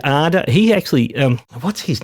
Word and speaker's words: Ardour: There was a discussion about the pronunciation, and he said Arda. He actually, what's his name? Oh, forgive me, but he pronounces it Arda, and I used to pronounce it Ardur.